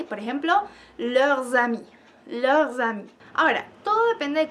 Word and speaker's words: leurs: Y la S no se pronuncia a menos que haya una vocal. Y por ejemplo, leurs amis.